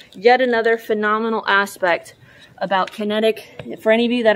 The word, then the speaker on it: Kinetic: i said it right normally i say connecticut but it's kinetic from total detailing auto